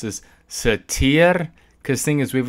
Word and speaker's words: tiger: And part of me may think this might be tier, but given that this is a Latin-based word, I would think it'd be tiger. Yeah. So, I mean, the pronunciation of the G really depends on the etymology of the word.